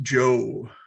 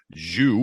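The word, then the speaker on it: Zhou: they showed me that the pronunciation is joe instead of zhu which is what i was going to say so yes joe won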